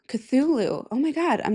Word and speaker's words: Cthulhu: HP Lovecraft wrote this story called The Call of Culu. Cthulhu.